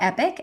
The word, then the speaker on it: Epoch: It's not spelled like epic, like rad. It's EPOCH, the Waldorf word epoch, which is translates to a significant time in someone's life.